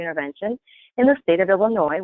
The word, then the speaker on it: Illinois: I am the Part C coordinator / bureau chief for the Bureau of Early Intervention in the state of Illinois, where the S is silent.